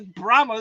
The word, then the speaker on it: Brahma: is brma it's not bra it's not bras it's Brahma like the Brahma bull oh my God I'm